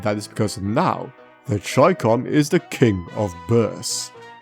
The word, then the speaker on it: Chicom: The Chicom. Yes, that's right. I'm still calling it that because Chicom is a daft pronunciation and I refuse to say it.